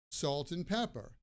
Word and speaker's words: salt and pepper: And the T at the end of salt and the ass sound at the beginning of and kind of blend together, so it sounds like salt and pepper, salt and pepper, salt and pepper.